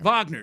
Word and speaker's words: Wagner: I forgot about Fran Wag Wagner or Vagner. Vagner, excuse me. I know that. No, it ain't Wagner.